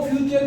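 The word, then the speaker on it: future: Pronunciation नहीं आता, वो फ्यूचर की जो है उच्चारण नहीं कर पाते। फ्यूचर, इसको बहुत से फटूरे बोलते हैं। This is नॉट फटूरे, इट इज फ्यूचर, ये फ्यूचर है।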